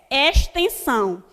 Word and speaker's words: extensão: Aí, X com som de S. Extensão. Observe que tem o X, mas na minha pronúncia sai um S.